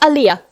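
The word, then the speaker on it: Aaliyah: wife Beyonce for example they put liar it's pronounced Aliyah Talia yes her death was also very strange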